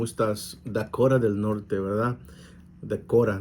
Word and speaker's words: Dakota: Dacora, dicen los de acá. Dacora es Dakota, pero la pronunciación es Dacora del Norte.